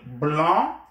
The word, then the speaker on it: blanc: The C is silent, and then you have a nasal vowel, A-N, the nasal vowel, blanc, and then blanche, blanc, masculin, blanche. Féminin. So, un blanc, cahier, a white notebook, un blanc, avec C, don't forget the C, it's pronounced blanc, but it is written with a C, un blanc cahier, a